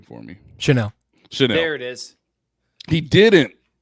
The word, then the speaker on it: Chenal: Chenal.